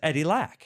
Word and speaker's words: Eddie Lack: it's I'm not gonna say it do I pronounce it right yeah yeah it's you're right it's Eddie Lack yeah oh you're bringing the lxer sing selling